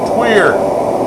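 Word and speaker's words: tuyere: Tweer. Tweer is spelled T-U-W or T-U-Y-E-R-E.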